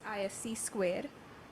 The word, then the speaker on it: ISC2: System security certification Consortium isc2 pronounced ISC squ currently offers free exam